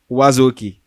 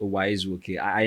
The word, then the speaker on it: Uwaezuoke: welcome my guest for today's show Mr Wazi Esquire okay um thank you very much Elvis the surname is pronounced o I never really paid close attention to my surname